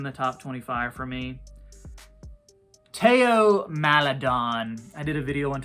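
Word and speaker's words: Théo Maledon: where I called him Theo and a guy uh put into the comments uh actually it's pronounced Teo so he's no longer Theo madon he's Teo madon the H is silent uh but Teo madon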